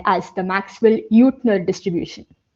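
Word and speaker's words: Jüttner: And to account for that, instead of the Maxwell Boltzman distribution, we use something called as the Maxwell Utner distribution. The name Utner is German, hence the pronunciation.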